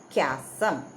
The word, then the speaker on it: chasm: Some of the students always pronounce like this, chasm. You cannot say chasm, you should say chasm.